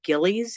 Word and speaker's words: Gillies: You wrote this, of course, along with William Gillies.